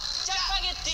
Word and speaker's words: 짜파게티: The pronunciation difference. 자예요, 자예요. 자, 자, 자, 자, 자, 자. 오케이. 자, 짜파게티.